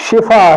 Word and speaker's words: شفا: شفا بولا جاتا ہے۔ تو یہ لفظ شفا ہے یعنی شین کے نیچے زیر ہے۔ اسی طرح یہ لفظ